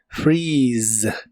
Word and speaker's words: freeze: de inglés es freeze se pronuncia con la i larga o doble y termina con el sonido de la z que en inglés es como una s vibrante free freeze en el presente puedes